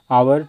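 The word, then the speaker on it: hour: होगा I need an आवर to complete this task देखिए हालांकि एच यहां पे साइलेंट है लेकिन फिर भी एच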